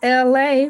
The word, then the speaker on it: Elay: Power Rangers, my name is LA, pronounced like LA like the city.